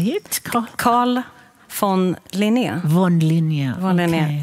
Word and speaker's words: Carl von Linné: Carl von Linné.